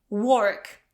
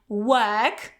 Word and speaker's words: work: Because most people pronounce it as work, okay, with O. Okay, but remember, this is so in the British variety, it's going to be work. Okay, so you don't pronounce this R, work, or American variety, work, work.